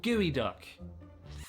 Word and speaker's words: geoduck: No, it's called gooey duck.